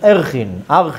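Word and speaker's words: Arakhin: And I will send you to tractate Archin, page 16a, Tet Zayin Aleph. And I will quote, the tractate is called Erchin, Erchin, some people pronounce it different.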